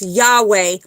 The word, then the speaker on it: Yahweh: It's Yad He Vahe, which here in America, it is pronounced Yahweh.